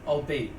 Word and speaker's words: albeit: Fey Cloak 'tis called, a most ingenious magic which rendereth one invisible to Fey folk, albeit briefly. Albeit. Not albeit. Albeit. I think that's how you pronounce that.